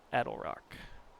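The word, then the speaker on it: Attlerock: Rock The eddle Rock you pronounce that adlerock they're not a traveler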